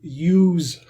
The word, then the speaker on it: use: I can hear some of my, not all, but some of my former Spanish-speaking students saying juice. I juice a red pen. No, you use a red pen.